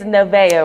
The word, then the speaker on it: Nevaeh: And it's Nevaeh, right? Yeah. Okay, I don't want to mispronounce it.